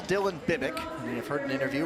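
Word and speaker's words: Bibic: a look at Dylan Bick now the Canadian Dylan Bick you may have heard his name pronounced as bibbit as well and if you ask his father both are correct and so his father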